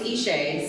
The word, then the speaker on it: Eshé: Not offended, but hey, it's it's Eshé.